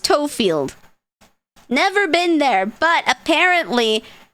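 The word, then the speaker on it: Tofield: So Toefield, but it's pronounced Toefield.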